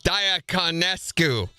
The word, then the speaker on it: Diaconescu: Well, it's funny that you say that because when I tell people how to say it, I always tell them that if you break it up, it looks like you're going to kill a diacon with an S and a Q.